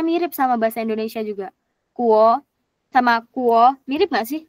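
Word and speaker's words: 国: Untuk latihan ya, untuk catatan, huruf U itu sama dengan W. Jadi kayak kalau misalnya huruf U diganti aja kayak W dalam bahasa Indonesia. Jadi kayak Zhongguo, guo nih.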